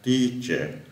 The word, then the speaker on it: teacher: Các em đừng có đọc là teacher mà là âm y nó hơi dài. Chúng ta sẽ ngâm ra teacher, head, heavy, breakfast.